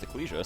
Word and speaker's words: Ecclesia: Dracula well that confirmed that it is actually pronounced eclesia so I feel better about myself yep the